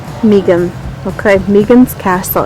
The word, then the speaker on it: Meggen: It's pronounced Megan. Megan.